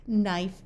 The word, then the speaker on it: knife: when you have k n together the K is silent like in no knob Knack knife and not notice that these are all used